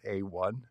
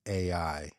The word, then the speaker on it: AI: Do is she saying AI and she's pronouncing it A1? Is that what's happening? That's absolutely what's happening. The person in charge of the Department of Education is mispronouncing AI as A1 steak sauce.